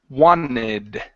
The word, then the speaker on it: wanted: go good okay so this word here wanted actually changes to the word wanted okay so it looks like this wanted okay so wanted we don't pronounce the the T in there so she wanted to